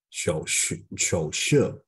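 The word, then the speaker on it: 手势: 热 and this one, the third tones is like 热热，对 then this one 手势，this is the third tone and the fourth tone together, right?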